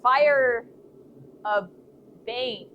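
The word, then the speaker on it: Feierabend: Fear revenge pronounced like fire bang.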